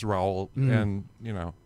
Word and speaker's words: Raoul: of differently and and it's sort of a French so it's it's really just row and you know right